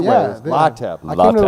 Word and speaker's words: Lateb: Lateb. I came to the right place then. Yeah. Lateb. Yeah. Lateb. Lateb. No, I'm saying it right. Is it B pronounced? Yeah, B. Yeah. Yep. Okay, Lateb.